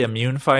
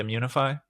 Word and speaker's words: Immunefi: pronunciation of your name did i say immune fi at the beginning and it's actually immunify yeah we say munify but uh vowels anyway that that i